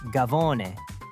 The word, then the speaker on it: cafone: When southern Italians immigrated to America, their Neapolitan dialect pronounced cafone more like gavone, and that stuck.